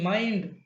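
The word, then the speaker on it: mind: Third one है एम आई एन डी माइंड।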